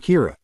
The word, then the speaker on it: Kira: person behind this and calls him Kira which is the Japanese pronunciation of the word killer some people are